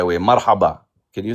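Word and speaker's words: مرحبا: Marhaba.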